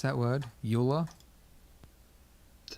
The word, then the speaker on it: Euler: is underneath utilities and we're looking for rotate Euler is that how you pronounce that word Euler is how we pronounce it now come on